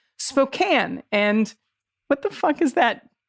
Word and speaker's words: Spokane: people out here tolerating folks from back east mispronouncing cities constantly for example it's spokane and what the is that